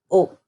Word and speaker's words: au: And then the only other one that changes is a plus les becomes o. That's pronounced o. Okay? So, for example, it's not je vais à le cinéma, it's je vais au cinéma.